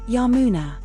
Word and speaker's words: Yamuna: Secondary domain sacred river pronounced Ganga Yamina a goddess from the Hindu tradition. Primary domain life sustenance. Secondary domain sacred river pronounced Yamuna Sarraati river a goddess from the Hindu tradition.